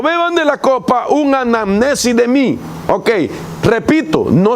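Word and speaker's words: ἀνάμνησις: más, sino que es una palabra del griego que se pronuncia anamnesis. Oiga esto, anamnesis.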